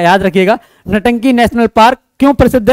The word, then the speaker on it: Ntanki: तो नागालैंड में सिर्फ एक नेशनल पार्क है जिसका नाम है नटंकी, NTANKI, ये इसकी स्पेलिंग है, याद रखिएगा। नटंकी नेशनल पार्क क्यों प्रसिद्ध है?